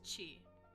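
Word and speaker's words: ち: So we have ta, chi, so this is chi, not T.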